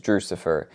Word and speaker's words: Drewxcifer: new viewer, it is Drewxcifer. And what does that mean? So Drewxcifer essentially is just a nickname that my wife gave me. Rhymes with Lucifer, just a funny, silly